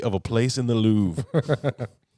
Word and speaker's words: Louvre: a place in the louvre or louvre if you pronounce it the way they spell it um that's how americans would say it that's right the lowry